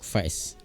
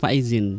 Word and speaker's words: Faizin: Ada Pak Faiz. Faiz ya, bacanya benar Faiz gitu ya? Ya, Faiz. Tapi sebenarnya itu Faizin.